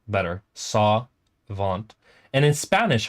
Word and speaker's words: Savant: say Savant like where I pronounce it kind of more French um I think it sounds better saw vant and in Spanish how